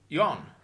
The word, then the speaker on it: yuan: you're exchanging rand for yuan, or won as they pronounce it.